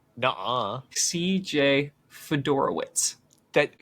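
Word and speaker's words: Fiedorowicz: We have CJ Fedorowitz.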